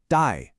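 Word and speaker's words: 戴: The pronunciation is dye.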